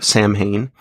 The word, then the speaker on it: Samhain: both with the Misfits, with Samhain, or if you want to pronounce it, in the English manner, Samhain, and then with Danzig.